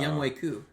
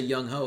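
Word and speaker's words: Younghoe Koo: Yeah, it's Oh, pronounced no. Young Wei Koo. Man's It cursed. is. But we all say Young Ho because Sorry, Degenerate.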